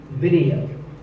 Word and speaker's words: video: Video. The important thing is that both the I and the E are pronounced as short I sounds. It's not video, it's video.